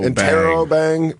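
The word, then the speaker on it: interrobang: it up too but I decided to finally figure out how to say it interobang Intero bang they t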